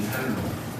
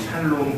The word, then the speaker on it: 살롬: 여기 등장하고 있는 이 살롬, 저는 발음하기를 늘 샬롬 그랬는데 성경에 보니까 살롬으로 되어 있거든요. 죽을 놈 말고 살롬, 이렇게 적혀 있습니다.